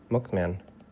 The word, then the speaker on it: McMahon: you can pronounce mman Vince McMahon pronounciation McMan Vince McMahon McMan okay just mcmah Why does it have an H what is the H for Vince McMahon but there's